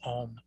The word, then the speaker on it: Om: So it starts off with ah, then it gets the O, and then it has the suffix of the M, the ma sound. And so essentially we have these 3 things that are together in this one syllable Om.